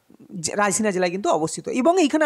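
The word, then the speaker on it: Raisen: তবে শুধু মধ্যপ্রদেশ জানলে হবে না, মধ্যপ্রদেশের জায়গার নাম কি, তো রায়সিনা জেলা। মধ্যপ্রদেশের রায়সিনা, দেখো নাম নিয়ে তোমার কাজ নেই, উচ্চারণটা শোনো, মানে আমি কি বলছি, মধ্যপ্রদেশের কোন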